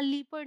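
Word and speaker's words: leopard: है ई ओ को हम ई करके ही प्रोनाउंस करेंगे, साउंड ई नहीं आएगा हर बार। जैसे ये है जेपर्डी, ये है लेपर्ड, ठीक है, यहाँ लीपर्ड नहीं बोला हमने, लेपर्ड।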